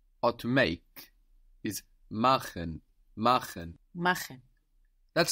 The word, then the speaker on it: machen: To do or to make is machen, machen. Machen. That's spelled M-A-C-H-E-N. And here we have friction on the C-H, machen.